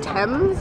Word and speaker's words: Thames: we're just talking about how the thames is spelled kind of like teams but you say it thames and amanda apparently has